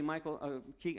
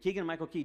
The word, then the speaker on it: Keegan-Michael Key: little bit flat suddenly Michael a king I keep saying his name wrong but keegan-michael key jumps out into the